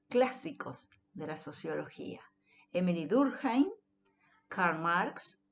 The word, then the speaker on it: Durkheim: de la sociología: Emily Durkheim, Karl Marx y Max Weber, ¿sí? No es Durkheim, es Durkheim, ¿sí?